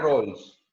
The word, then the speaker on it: Rawls: Y en cuanto a Rawls, no sé si se pronuncia así. No importa, se pronuncia Rawls. John Rawls se pronuncia.